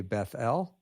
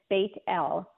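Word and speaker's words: Bethel: of people who have not heard that name pronounced that way most of us would say Beth L Y or bethl I've heard people say Beth but it's yeah it's bit L because bait means House of and L is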